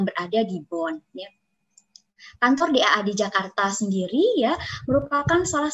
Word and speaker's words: DAAD: Sedikit saya ingin memperkenalkan DAAD tempat saya bekerja.